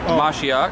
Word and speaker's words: Mashiach: Mashiach.